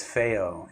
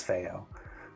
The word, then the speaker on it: FiiO: You're saying that it's known as fyo in Chinese. I I pronouncing that as fyo.